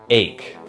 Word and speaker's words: ache: minute write this down this word is pronounced ache just like the word make but without the M make make make ache ache ache and then one